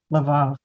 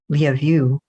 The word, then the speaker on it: Lvov: I think in Ukraine, which is where it is now, it's Lvov, which sounds like love you.